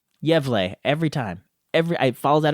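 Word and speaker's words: Gävle: Let me just look it up on YouTube real quick, and hopefully I can pronounce it correctly. Yevle.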